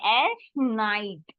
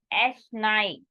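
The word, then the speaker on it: es schneit: snowing you can say s night I pronounce it again e i sound will be I sound so s night I'll repeat quickly again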